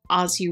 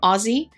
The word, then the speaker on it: Aussie: Every time I say Aussie, I get comments. So there you go. It's spelled with two S's. Why is that? If you wanted it to be Z's, then it should be A-U-Z-Z-I-E.